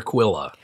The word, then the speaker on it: Quilla: a brother Pete who's 14 and a mother Quilla right he's a teacher okay yeah it's pronounced quillin audiobook yeah in the audiobook they call her Quilla which is all right calm down Q and